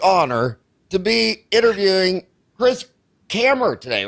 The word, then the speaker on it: Kammer: It is a huge, huge honor to be interviewing Chris Kammer today, right?